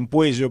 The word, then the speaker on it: Puello: me sorprendió mucho puelo yo lo llamo puelo dice puello pero para mí la do se pronuncia se pronuncia como l me me me sorprendió mucho